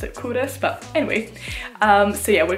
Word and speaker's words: Culross: Well, first of all, I thought it was called Culross. I didn't know you pronounced it Culross, but anyway.